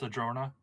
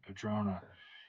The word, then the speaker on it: Adrona: Is it pronounced Adrona? Yes. Okay, Adrona.